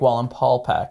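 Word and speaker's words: Wallenpaupack: Because I said Lake Wallen Paul Pack. That's how I pronounce it, with an L in there.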